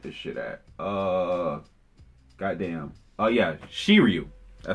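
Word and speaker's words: Shiryu: at uh goddamn oh yeah she Ryu I said it right she were you and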